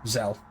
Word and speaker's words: Xell: That's pronounced. That is spelled Xell. Zell.